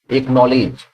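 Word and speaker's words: acknowledge: एक्नॉलेज, यहां पर D silent होता है।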